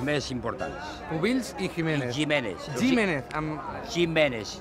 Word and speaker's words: Jiménez: Jiménez. Jiménez. Es pronunciat així amb la G catalana. Amb la G catalana. No G de castellà.